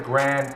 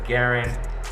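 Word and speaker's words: Garand: searched it up online everybody that says Grand it is totally wrong you're wrong that is not how you say it that's not how you're supposed to say it it's Garen and I didn't even know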